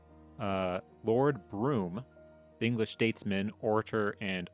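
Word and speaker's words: Brougham: Oh, it's pronounced broom. Burrow. I thought it was Buroughham. God, they do the British thing where it's like you have the word and you just don't pronounce any of the middle part.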